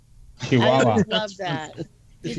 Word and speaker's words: Chihuahua: I love the way he said Kuala Lumpur, I think, because I knew a Norwegian girl once, and instead of saying Chihuahua, she used to say Chiahuahua. Chihuahua.